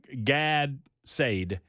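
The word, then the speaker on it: Gad Saad: So, God Said, and it's G-A-D-S-A-A-D, Gad Said, and I have difficulty pronouncing his name, but he is he's an influencer.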